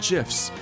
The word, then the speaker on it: GIF: silly internet memes and gifs. I just want to be able to make him smile, too. First lesson, it's pronounced memes and gif with a hard G.